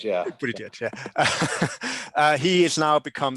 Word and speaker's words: Buttigieg: I probably can't pronounce his name properly, but it's Buttigieg, yeah. Buttigieg, yeah.